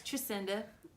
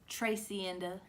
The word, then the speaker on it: Tricinda: My name is Tricinda, not pronounced Tracinda, Yes. not pronounced Boo. Jacinda. It's- It's Tracinda. Tracinda.